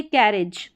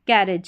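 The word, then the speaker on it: carriage: यहां पर है यह कैरज। क्या है? कैरज कैरज। शुरू में ए जी ई का साउंड लास्ट में ए जी ई का साउंड आपको एज करके पकड़ना है। यानी एज इसका साउंड निकलेगा।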